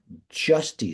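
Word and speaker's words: Giusti: by the name of Dave justy spelled with a G all he did was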